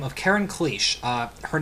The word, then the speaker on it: Cliche: actress Now American by the name of Karen kich uh her name is spelled Karen cliche uh but it's pronounced clich um damned Americanized